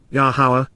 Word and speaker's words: Yahowah: Imperfect, continuously with unfolding implications, says, Amar, conveys and attests, Yahowah, Yahowah, the proper pronunciation of Yahowah based upon his Torah, teaching regarding his higher existence.